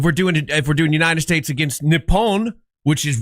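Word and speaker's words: Nippon: If we're doing it if we're doing United States against Nepon, which is how they say it, then I'm okay with it.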